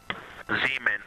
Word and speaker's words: Zeeman: Zeeman. Okay, and can you say the first letter? I may be pronouncing that wrong.